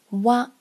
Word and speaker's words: わ: 蛙就是和，蛙，蛙，